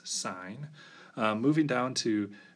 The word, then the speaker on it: sine: Sine of theta. Often, though, we'll abbreviate this as sin. Don't pronounce that as sin, it's sine.